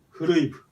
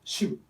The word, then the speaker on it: 篩部: いたのが古い部、古い部と書きますが、一応読み方は主部ですね。